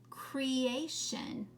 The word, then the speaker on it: creation: so how what word would this be cree a shun creation how many syllables are in that word three right creations because you have that two um those two letters there each make a syllable sound the two vowels and then shun makes its own syllable sound all right let's go